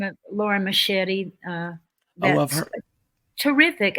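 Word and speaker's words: Mascitti: that's Lauren Machete. Yeah, I like that last name. yeah. That's a cool It name. rhymes with spaghetti, so It no.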